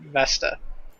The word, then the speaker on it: Vesta: It's Ceres and Vesta.